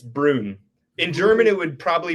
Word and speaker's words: Bruun: But in Norwegian, the two use um I think in Norwegian it would be pronounced like Brun, like a weird kind of sound.